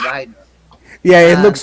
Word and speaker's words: Wagner: It's Good actually it's pronounced Wagner, but Is it Wagner? it's spelled like Wagner.